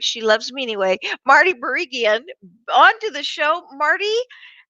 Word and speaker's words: Barigian: So with no further ado, I want to bring Marty, and I'm going to say her name wrong, but she loves me anyway, Marty Barigian, onto the show.